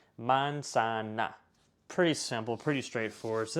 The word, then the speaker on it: manzana: So if you've got a word like apple, manzana, every single A in this sentence is going to be pronounced like A, manzana.